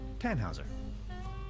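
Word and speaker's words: Tannhäuser: why what's your name tanhauser we'd pronounce it with an umlaut German roots yes my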